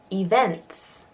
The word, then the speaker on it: events: is a schwa freedom events so now we've got both ease we've got to ease in this word and they each have a different sound events event events I